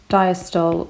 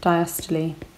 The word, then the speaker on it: diastole: main events number one systole or systole and number two diastole or diastole it's completely up to you how you pronounce it but what do these